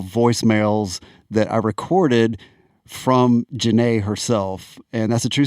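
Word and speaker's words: Jahne: a h NE and fanatically it looks like Johnny and I called her up and embarrassed myself and she was like it's Jana not Johnny oh God and we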